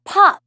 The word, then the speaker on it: path: path 같은 경우에 시험에서 쓸 때 path 해주지 않아요. path. 이거 거의 팥 같은 발음으로 지나가거든요.